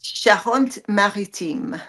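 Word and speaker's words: Charente-Maritime: you're calling your favorite spot and could you pronounce that again for me it's shant maritim shant maritim very nice so tell us a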